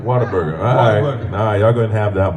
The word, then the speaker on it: Whataburger: thank you like you like to mispronounce things here in Texas yeah water bear burger but we call it water booger Whataburger you're going to have